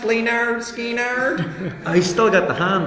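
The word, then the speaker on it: Lynyrd Skynyrd: love Skinner I love it is pronounced Leonard Skinner I still got the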